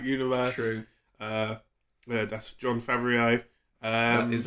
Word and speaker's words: Favreau: Yeah, that's Jon Favreau. That is how you pronounce his name. You're right. How do you pronounce his name? Favreau. Oh, right. Great. Favreau.